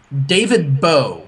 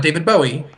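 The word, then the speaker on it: David Bowe: found it look at me look at me david beau not david bowie if you got rid of the guy he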